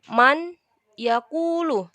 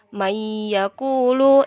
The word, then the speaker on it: mayakulu: Jadi bacanya bukan man yakulu, tapi mayakulu.